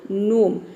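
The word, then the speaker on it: gnome: एन आया है तो यहां पे जी लेटर साइलेंट है और एन ओ एम ई ये हो गया आपका नोम ठीक उसी तरह से यहां पर देखिए नेट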